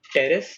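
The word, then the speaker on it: Pteris: Equisetum, large मैक्रोफिलस, टेरिडियम, P silent होता है याद रखना, टेरिडियम टेरेस and other ferns. इसका पी यूजुअली साइलेंट होगा, कहीं जब बोलना होगा तो अगर कुछ होगा तो मैं स्पेल करके बता दूंगा उसको। वैसे इनके इन दोनों के पी साइलेंट है, टेरिडियम एंड टेरेस।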